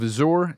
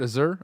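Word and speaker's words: Azure: Microsoft has finally broken their silence over reports about the use of Azour, and that's how you say it. Azur Azur Azur and Microsoft Genitative AI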